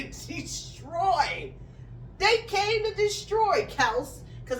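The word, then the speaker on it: Kelce: they came to destroy Kel CU I'm not calling him Kelsey because that's not how you pronounce his last name Kel was getting into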